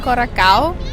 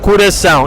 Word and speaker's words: coração: Quem não souber nada sobre fonética portuguesa irá pensar que se lê coracao, mas infelizmente não é assim tão simples. Para começar, o primeiro O lê-se U. Cura. Depois temos um C especial, o C de cedilha, que se lê sempre S e não K.